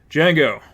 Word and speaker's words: Django: "Django, with a silent D."